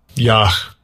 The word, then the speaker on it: Yah: So how is that pronounced? Strong's H3050. Yah. Yah.